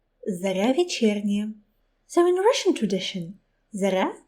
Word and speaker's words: Zorya Vechernyaya: Well, they tried. Her name should be pronounced Zorya Vechernyaya.